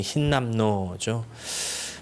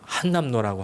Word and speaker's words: 흰남노: 이름이 흰남노죠. 발음도 정말 어렵습니다. 어떤 분은 막 한남노라고 하기도 하고, 또 어떤 사람은 흰담도라고 그러기도 하고, 또 흰남도라고 그러기도 하고, 막 변형이 많았는데요.